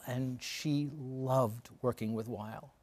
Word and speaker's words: Weill: she loved working with while as he was just how he pronounced his name at that point Oh everyone's heard vile it was violin German recognized Americanized had a great determination